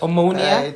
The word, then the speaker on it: Omonia: Manchester United again with ammonia and am I pronouncing correctly ammonia yes ammonia it sounds almost like a virus that was